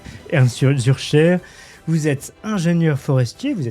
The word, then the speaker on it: Ernst Zürcher: Et aujourd'hui, j'ai le grand plaisir de recevoir Ernst Zürcher. Est-ce que je prononce bien ? C'est parfait. Ernst Zürcher, vous êtes ingénieur forestier,